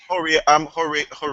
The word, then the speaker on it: Horia: Horia, I think his name is pronounced? Yeah, Horia.